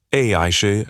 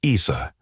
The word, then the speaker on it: Aisha: Madame Chair, my name is Aisha, pronounced Aisha, not Issa. Three measurable points.